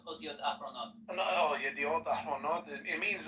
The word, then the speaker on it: Ahronot: Yediot yahronot. No, wait, you're saying it wrong now. So no, you said the second word wrong. So the first word is Yediot. Yediot Ahronot. Ahronot, not yahronot. Not Yahronot, Ahronot.